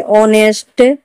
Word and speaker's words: honest: जैसे owner, HONOUR, owner, owner ने भी ओ से पहले एज आया है तो हम एज को उच्चारण नहीं करेंगे। ऑनेस्ट, HONEST, ऑनेस्ट।